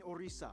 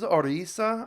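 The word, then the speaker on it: Orissa: sell out tickets in orisa Sp of which all Indian it is orisa I thought it was odisha I've been I've been calling the country wrong this entire time it's orisa I apologize olog okay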